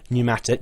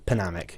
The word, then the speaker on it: pneumatic: and it is pronounced pneumatic you don't pronounce the P so p is silent if I get very angry when people say p p panamic no that's not that's